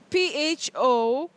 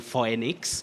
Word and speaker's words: Phoenix: going to spell out Phoenix. Phoenix or phoenix. Oh, Betty, you say phoenix. All right. Phoenix is very common but inaccurate. Yeah. Locally, many people find themselves saying phoenix, which is not the case.